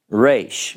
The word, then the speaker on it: Resh: Resh, okay?